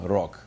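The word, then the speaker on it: рог: So you take a word like rog, and in final position, the G sounds like K, rog.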